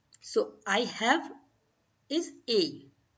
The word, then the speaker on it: he: So I have is a. H is silent, so you will say a.